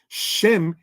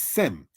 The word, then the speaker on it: Shem: All right, Greek doesn't have that sh. So when you get to the matter of the Septuagint, Shem in Hebrew is said as Sem. It is thus metathesis, right, said as Sem instead of the Hebrew Shem.